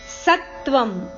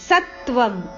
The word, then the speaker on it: ಸತ್ವಂ: ನಿಬದ್ನಂತಿ ಮಹಾಬಾಹೋ ದೇಹೆ ದೇಹಿನಮವ್ಯಯಂ ಸತ್ವಂ ತ ಅಕ್ಷರಕ್ಕೆ ತ ಒತ್ತು ಸತ್ವಂ ರಜಸ್ತಮ ಇತಿ ರಜಸ್ತಮ ಇತಿ